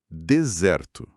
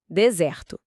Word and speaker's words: desert: Ouça devagar, prestando atenção na primeira sílaba.